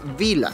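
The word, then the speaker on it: Billa: de mí el supermercado se llama Vila Aunque está con doble l Ya lo hemos escuchado que lo pronuncian los austríacos en su alemán austríaco y se pronuncia Vila para allá vamos a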